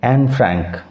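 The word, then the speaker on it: Anne Frank: তাই আমরা উচ্চারণ করব এন ফ্র্যাঙ্ক।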